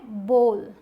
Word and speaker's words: bowl: BOWL, इसका मतलब कटोरा, जो हर घर में है, लेकिन इसे लोग बोल देते हैं बाउल या बावल, लेकिन सही प्रोनाउंसिएशन है बोल।